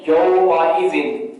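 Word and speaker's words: يومئذ: پہلا جو لفظ لکھا ہوا ہے وہ ہے یومئذ، یومئذ۔ آپ اس کو اس کے ہجے کرتے ہیں، یا واو زبر یو، میم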